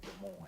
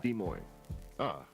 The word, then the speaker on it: Des Moines: The S is silent on both of those. It's just Des Moines. Des Moines.